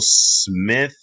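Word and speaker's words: Smythe: it is very it's smith with an e i don't pronounce the e that's great so i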